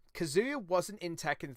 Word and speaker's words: Kazuya: say tomato tomato anyway you've been pronouncing it like it's kazoo and then with the yacht at the end it is not kazoo there is no kazoo i like kazoos anyway